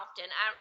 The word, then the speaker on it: often: I know I need to do it more often. I really do. I'm still at the stage, and I think the T is silent.